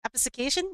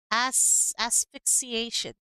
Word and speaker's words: asphyxiation: Episcication? Am I pronouncing that right?